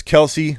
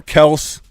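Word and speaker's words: Kelce: Travis Kelsey, or Kels, however you want to pronounce his name now that he's corrected the world. My name's actually Travis Kels, but it's okay. You can keep calling me Kelsey.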